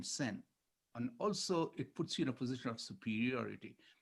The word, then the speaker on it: Sen: She says, Zen rhymes with our last name, Sen.